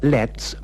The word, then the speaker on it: let's: let's not get angry if you listen carefully to the pronunciation of lets in these dialogues you'll find that the T disappears why don't we have